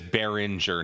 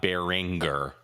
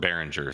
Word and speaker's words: Behringer: And it is Behringer, not Beeringer. Yeah. Whatever you want. I've heard it spelled both ways. I mean, the Germans pronounce it Behringer, so I'm just saying.